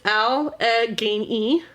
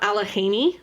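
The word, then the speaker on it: Allegany: It is al Genei, not Alahhaney like it is in PA. They're spelled differently.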